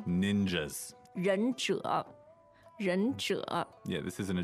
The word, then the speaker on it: 忍者: It's a little difficult because it's two third tones.